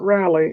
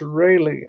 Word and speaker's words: Rayleigh: Rayleigh Creative Travel, not Raleigh, it's Rayleigh, Raley is pronounced Raylee, Rayleigh, Rayleigh Creative Travel.